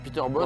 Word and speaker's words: Peter Bosz: Alors, Peter Bosz. Comme les enceintes. Non, ça s'écrit pas pareil.